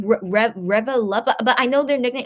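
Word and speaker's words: ReVeluv: How do you pronounce their fan club name? Revelub, but I know their nickname is called Lubby, so I'll just call them Lubby.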